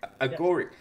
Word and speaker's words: Agoric: So now you're the CEO of, I hope I pronounce it correctly, Agoric, how do you pronounce Agoric. It? Yeah. Agoric.